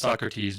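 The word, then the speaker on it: So.Crats: So the first one in Australia is, I'm assuming it's pronounced Socrates, but it's spelled S-O period, and then capital C-R-A-T-S. So like Socrates, but I think it's Socrates.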